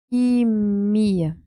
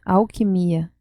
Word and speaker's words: alquimia: Alquimia. Nós decimos alquimia, alquimia. La sílaba mais forte é que. Não, é mia. Alquimia.